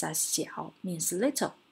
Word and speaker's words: 小: This character pronounced as 小, means little, 小.